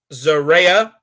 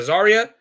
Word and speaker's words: Zaria: American Champion, Keilani Jordan, Zaria, or excuse me, oh my God, I keep saying her name wrong. Zaria? Yeah, Zaria. Yeah, Zaria, that's how you say it.